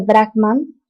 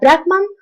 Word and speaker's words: Brahman: Los conceptos filosóficos más importantes de las Upanishads son la idea unificadora de Brahman y Atman y el concepto del karma. Ahora, Brahman, mal pronunciado por nosotros como Brahma, es el fundamento, la